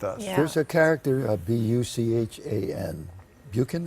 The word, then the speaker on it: Buchan: There's a character, Buchan. Buchan, how do you pronounce it? Bucking, yeah.